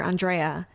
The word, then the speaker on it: Andrea: And she had shared with me that one way that she reminds people how to pronounce her name is to go through the holiday reindeer from that Christmas song. On Dasher, on Dancer, Andrea.